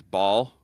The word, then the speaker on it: Baal: His name is Ball, pronounced it's spelled Baal, and his critical character flaw is that he likes shiny things.